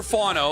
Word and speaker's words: Fano: So Concepcion and Spencer Fano, like a fawn.